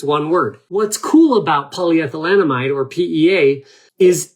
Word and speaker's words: polyethylenamide: about, maybe because it's difficult for people to pronounce, but we call it PEA because that's the acronym for polyethylenamide.